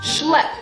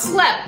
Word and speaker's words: schlep: Schlep, not slep, schlep.